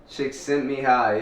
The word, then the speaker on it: Csikszentmihalyi: Csikszentmihalyi, yeah.